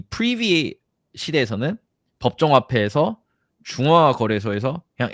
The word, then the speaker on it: Privy: 얘네 발음을 어떻게 해? 프라이비야? 프리비야?